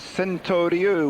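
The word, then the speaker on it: Sentoryu: Interesting newcomer now to the Makuuchi division, Henry Armstrong Miller, otherwise known in sumo circles as Sento Ryu, which was taken after the Japanese pronunciation of St. Louis, which is where he comes from, in Missouri.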